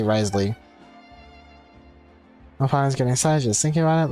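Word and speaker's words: Wriothesley: then after the train oh okay it's Risley at least how they pronounce name which I'm sure there's like a a better accent pronunciation to it but at least in English we can just say Risley getting just thinking about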